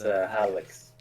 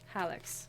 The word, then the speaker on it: Hallex: Well, you can also start by saying your name, by the way, so I know how to pronounce it, because that would be nice. It's Hallex. Hallex.